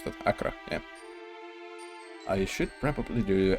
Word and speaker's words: Accra: How do you pronounce that? Accra, yeah.